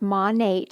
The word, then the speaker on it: Monat: So it's pronounced Monat if you're curious.